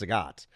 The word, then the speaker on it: Zagat: pinks is in yeah it's in it's actually pronounced Zagat um but nobody calls zag that was that